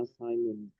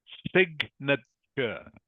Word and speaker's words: signature: It is pronounced signature, everyone. Signature. Okay. Not assignment. Not assignment. It is signature.